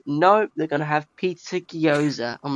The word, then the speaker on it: gyoza: gyoza that's how you say it it's a gyoza yeah those were quite like different because i was thinking like oh the ninja turtles are gonna go try something new no they're gonna have pizza gyoza i'm like seriously gyoza pizza means yours i